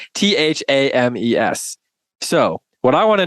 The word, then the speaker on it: Thames: It's not even pronounced how it's spelled, right? Thames.